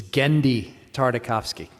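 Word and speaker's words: Genndy Tartakovsky: of this panel is the correct pronunciation of its creator's name which is gendi tartakovsky helmed by gendy tartakovsky this series aired on cartoon network for three seasons between 2003 and 2005.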